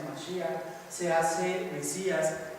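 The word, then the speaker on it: מָשִׁיחַ: En hebreo así se pronuncia Mashiach.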